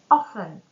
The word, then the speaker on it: often: Two silent letters are silent T and silent L. Silence T will be in the word often.